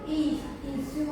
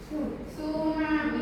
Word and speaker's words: tsunami: Tsunami terdiri atas dua kata, yaitu isu. Itu bukan isu tapi itu T sama S sama aku bacanya tu. Tsunami ya.